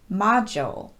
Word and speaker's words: module: already noticed a pattern in each one the letter d is followed by the letter u so you might naturally